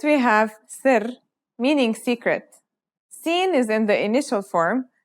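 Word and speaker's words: سين: Scene sounds just like the English s.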